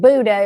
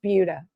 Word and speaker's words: Buda: It looks like Buda if you're not from around here, but it's pronounced Buda.